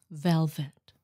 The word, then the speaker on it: velvet: We have to remember that a V, even in Vietnamese, many Vietnamese mispronounce it because they speak tiếng Nam. Tiếng Nam hay thế là y, y, y, y. It's V. V. V. Velvet.